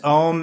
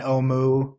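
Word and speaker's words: Ohmu: go over those now which is the others ohm and oh Moo you know either ones fine right we can stay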